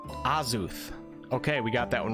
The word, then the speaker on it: Azuth: Azuth, pronounced Azuth.